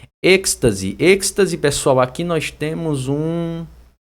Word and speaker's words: êxtase: Êxtase. Êxtase, pessoal, aqui nós temos Aqui nós temos basicamente, ó, êxtase.